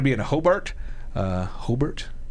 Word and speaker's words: Hobart: in a hobart uh hobart hope to pronounce it hobart not hobart they'll get on you for that the art theater there